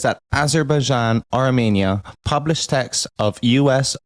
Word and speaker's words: Azerbaijan: So what's been happening is the war with Azerban and uh I'm not pronouncing this country right, isn't it? Azerbaian. AR Bjan. Yeah, there you go.